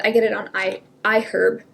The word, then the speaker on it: iHerb: package um and I get it on I I herb it's pronounced iherb by the way not iherb I learned that